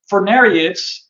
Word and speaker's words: Furnariid: spread focused on these so-called ovenbirds or the Furnariids. And it's this group of birds has a tough word to pronounce that a lot of people struggle with Furnariid.